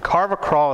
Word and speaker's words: carvacrol: And carvacrol is spelled C-A-R-V-A-C-R-O-L.